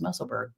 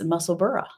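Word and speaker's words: Musselburgh: thought well maybe not maybe I just thought it was muscle BG because you know that's how we pronounce things over here but uh no it's muscle burra so very cool and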